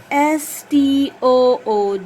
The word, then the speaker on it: stood: good wood f now here you have s-t-o-o-d the sound of s the sound of t the sound of o o and the sound of d so s-t-o-o-d skirt stood stood come on color with